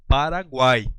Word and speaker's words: Paraguai: Não, eu falo Paraguai. Perceba que ele foi pronunciado.